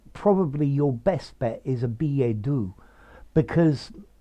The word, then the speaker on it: billet-doux: very literary and therefore as it comes from French it's pure French I think you probably should use the um French pronunciation although you may find many people saying a b a do or even a Billet